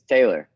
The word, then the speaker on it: Taylor: Because I never want to say the name wrong of the person I'm speaking with. Oh, that's funny. Yeah, thank you. It's Taylor.